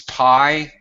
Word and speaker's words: pi: in uh in America it's pi and it sounds like the word Pi okay that's how it's